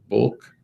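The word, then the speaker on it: Bouc: Lady of Guadalupe seminary in Denton Nebraska bulk is spelled b-o-u-c Kenneth L book age uh age 72.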